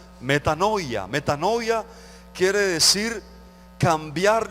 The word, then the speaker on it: metanoia: sobre el reino arrepentíos en su original se pronuncia metanoia meta novia quiere decir